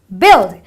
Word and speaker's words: build: a bu UI but it's not bu or buil it is build because the UI produces a short I sound which is build similarly you have another